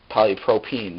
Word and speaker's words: polypropene: five here is polypropene polypropene sorry there's no h in the last syllable and this formula is